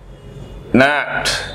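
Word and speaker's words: gnat: শ্রু long উ sound, এটা জি এন এটি, এটা আ sound long এ bit longer sound between এ অ্যান্ড আ, এটা উচ্চারণটা হচ্ছে ন্যাট, এটা হচ্ছে ডাস মশা, মশার মধ্যে একটা ডাস আসে, সেই ডাস মশা খুব বড় ধরনের মশাকে বলা হয় ডাস মশা, ন্যাট।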